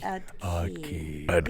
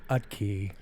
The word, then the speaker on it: Utke: Yes, Utke. Yes, it starts with a U. Like, The T is silent. Utke.